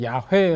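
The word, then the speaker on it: 야훼: 이름 중에 특별히 그 여호와 요즘 문제 야외 라는 발음이 원래가 더 이렇게 가까울 거라고 그렇게 많이 책 득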